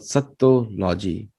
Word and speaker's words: sattology: a Latin word, etymologically you have to add an additional T to make it rhyme phonetically correct with the Sanskrit. Becomes satta with the additional ta emphasized on a full ta. So it's called sattology in English as well as in Sanskrit. And the meaning becomes the